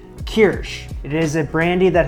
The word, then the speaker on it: Kirsch: Made the walnut cake and I used this and people were correcting me in how I pronounced it. So I think it's Kirsch.